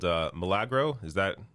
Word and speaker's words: Milagro: very unique kickstarter that you're launching called uh malagro is that how you pronounce it yes yes uh milagro is uh spanish for miracle it's a uh